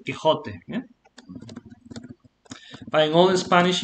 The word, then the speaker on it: Quixote: pronunciation, Quixote.